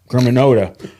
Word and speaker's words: Germanotta: I'm a fan of Angelina Germanotta. That's exactly the way you pronounce it.